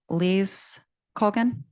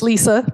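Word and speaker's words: Lisa Kogan: Le Kogan. Good try. It's Lisa, but it's spelled the way you said it.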